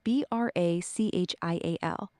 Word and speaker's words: brachial: And so it's like break, like, but with the H. Yeah, good catch. It's spelled Brachial, not break. The H makes a K sound, like in Christmas or Chrome. So it sounds like brachial.